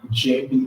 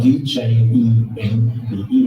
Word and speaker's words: djembe: And what we have in front of you is called a JB drum. It's spelled D-J-E-M-B-E, and it means to communicate.